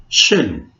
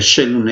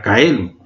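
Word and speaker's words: caelum: Shelun. Shelun. Si yo veo la escritura de Shelun es C-A-E-L-U-M. Si lo leo así sería Kaelum. Es Shelun.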